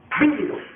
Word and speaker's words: vívido: Vívido. Menciona la palabra vívido. Vívido. Díganlo todos. Vívido. Vívido. Vívido. Porque vivido es uno y vivido Vivido es uno. Y con acento en la primera I.